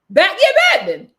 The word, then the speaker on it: bad mind: We actually pronounce it like bad mind. Badman without the D.